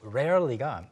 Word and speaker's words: rarely: 가끔씩 정말로 rarely가 그 나라 그 억양에 따라서 그 사람이 또 어느 나라 사람이냐에 따라서 really랑 좀 헷갈릴 때가 있어요.